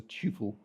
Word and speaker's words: tuple: it has one p i pronounce it Tuple I am English it is the right way you can perform addition